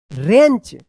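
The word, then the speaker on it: wrench: टी एच ई R another boy used a रेंच डब्ल्यू आर ई एन सी एच रेंच टू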